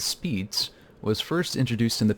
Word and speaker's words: SPDZ: completed the SPDC protocol often pronounced as speeds was first introduced in